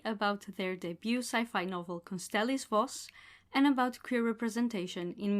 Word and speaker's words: Constelis Voss: Constelis Voss, number one.